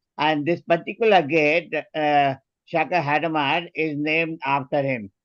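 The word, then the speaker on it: Hadamard: this particular gate Shaka hadamar is named after him the last D is not to be pronounced if you want to be French specific if you pronounce d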